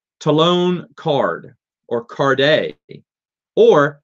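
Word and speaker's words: Karrde: Like Talon Card or Carde, or as I mispronounced them for years, Karad. I thought it was Karad for the longest. I don't know how my brain. And then I heard someone say Talon Card.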